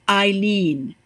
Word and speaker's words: Eileen: It's pronounced Eileen.